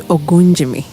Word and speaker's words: Ogunjimi: James Ogunjimi. Have I pronounced it right?